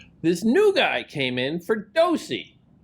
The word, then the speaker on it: Ferdowsi: This new guy came in, Ferdowsi. Again, pronunciation, Ferdowsi, good? Ferdowsi. A little bit more spin on that middle syllable there.